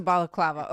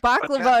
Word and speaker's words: balaclava: I I always pronounce that one wrong because I always I always miss the L that's in the beginning whenever I go to say it.